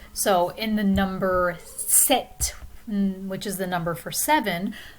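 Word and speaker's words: sept: so in the number set which is the number for 7 the p is silent but we pronounce the t same thing in the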